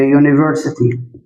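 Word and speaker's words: university: أه يونيفرستي. كلمة يونيفرستي يونيفرستي يو يو بدأت بصوت متحرك هأقول لك يونيفرستي للأسف. هنا بدأت بـ حرف متحرك لكن الصوت مش متحرك لأنك لما تنطقها تنطقها كده يونيفرستي وهكذا.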